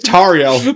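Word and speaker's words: Tauriel: Uh, the Hobbit elf girl spelled with a U. And it's right, it's Tario.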